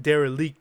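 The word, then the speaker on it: Derelicte: Um but it's the he always pron he pronounces it dare leaked.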